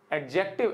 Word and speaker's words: adjective: हाँ जी, एडजेक्टिव, एडजेक्टिव नहीं मेरे भाई, एडजेक्टिव। जब ए और जे के बीच में डी होता है तो हम डी का उच्चारण नहीं करते।